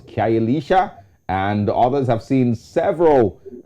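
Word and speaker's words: Khayelitsha: The pronunciation is Kyayelisha. Kyayelisha.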